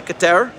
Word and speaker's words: Keter: of mine who does, every time I tried to say Keter, He says I'm not saying it right. Keter. It's something like that. But I don't have the right tongue jujitsu to pronounce it correctly. So I stick with keter like better.